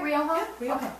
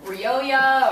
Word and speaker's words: Rioja: some of that pronunciation i don't know how many times i've heard people you know ryoya or yeah ryokan yeah real real